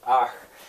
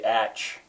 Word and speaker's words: Ach: Well, that A, you know, an American looking at that would say atch. Spelling for pronunciation. I thought about spelling it with a double A, ach, ach, but I don't know, that seems like that would be tedious, because in German you never say ah.